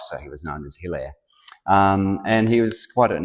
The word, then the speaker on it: Hilaire: He was actually born in France in 1870, and the correct French pronunciation of his name would be Hilaire, but the family moved